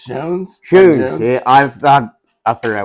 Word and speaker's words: Schons: of police scones that's right it's pronounced shones yeah I I fig